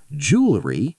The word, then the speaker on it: jewelry: Jewelry, 3 syllables.